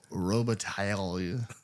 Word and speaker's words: Robitaille: They should have pronounced the L's, though. Daniel Robitaille.